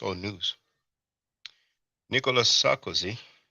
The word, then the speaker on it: Nicolas: Nicolas Sarkozy, we don't pronounce the S in French, but Nicolas Sarkozy to wear tag after losing corruption appeal.